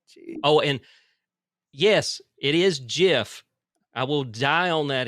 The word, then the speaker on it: GIF: it's Jif because it's an acronym, and GIF acronyms is do a not have to peanut butter.